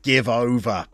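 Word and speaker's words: Givova: you believe that the jevova brand was established as the clothing Factory owned by Mike Baldwin in curry it's pronounced give over Greenough as always your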